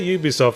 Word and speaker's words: Ubisoft: Do you say Ubisoft? I say Ubisoft because I keep seeing the phrase at Ubisoft production, so I assume it has to be the pronunciation has to start with a consonant.